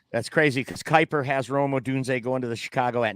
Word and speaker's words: Rome Odunze: Rome Odunze. Rome Odunze, yeah.